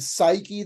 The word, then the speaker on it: psyche: Soul because the word psyche that we have in English and of course the p is silent p s y c